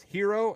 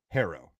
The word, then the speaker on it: Herro: I thought the guy's name was Hero and apparently it's pronounced Harrow.